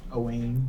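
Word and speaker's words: Eoghan: But pronounced Siobhan, or like Owen, which is Eoighn. Owen.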